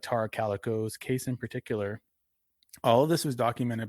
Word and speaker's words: Tara Calico: Um, am I nervous to cover certain stories like Terra Calico? Uh, yeah. Or Tara Calico. Sorry, I said it wrong.